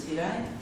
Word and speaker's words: Király: Király, you can pronounce it as Király, as usually I don't get used to it, but in Hungarian it's Király, as a without an X.